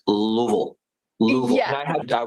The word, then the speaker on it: Louisville: It's it's Louisville.